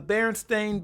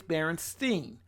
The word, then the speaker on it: Berenstain: big Mandela effects the berenstain bears they are the way it's spelled Berenstain that's how it's spelled and pronounced I have never up